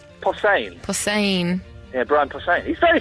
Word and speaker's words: Posehn: Behosen? Posehn.